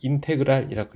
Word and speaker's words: 인테그랄: 인테그랄이라고 읽으시면 됩니다.